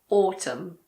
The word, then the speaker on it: autumn: We don't pronounce N if it comes after M at the end of a word. For example, autumn. It's not autumn. It's just autumn.